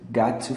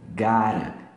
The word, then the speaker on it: gotta: Tira o T aqui e coloca um R, tá bom? And that's what I've gotta face. Gotta. Assim, ó. Inclusive, tem uma versão ao vivo que ele pronuncia assim mesmo. Got to face. And that's what I've got to face. Particularmente, eu prefiro a pronúncia junta.